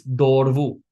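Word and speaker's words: દોરવું: This duh letter when it's in the middle of a word or at the end of a word it's pronounced very gently.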